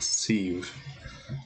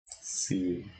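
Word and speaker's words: Sadhbh: Because Sedhub is pronounced Sieve. Okay. Sieve.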